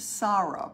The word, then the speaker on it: Sara: joy the blend that he pronounced sarah pronounced i mean it is spelled s-a-r-a this is relatively new